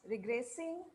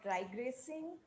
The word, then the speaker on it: regressing: it's repetitive not repetitive it's regressing not dry gracing and and cohesion it's